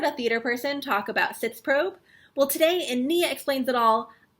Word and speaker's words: Sitzprobe: Sitzprobe, which, if you were to use the correct German pronunciation, I believe would be Sitzprobe.